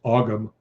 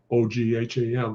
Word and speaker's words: Ogham: It looks like it's pronounced Ogham O G H A M, but it's pronounced Ogham.